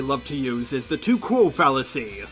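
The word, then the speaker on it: tu quoque: The second tactic that they love to use is the too cool fallacy. I first heard one of them pronounce it the Tukukui fallacy, so I decided to jokingly call it that for quite some time.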